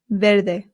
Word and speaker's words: ver: next one ver now remember I told you that the v in Spain makes a light B sound ver however in Latin America it does make more of the English V sound so if you want you can say ver ver good next one is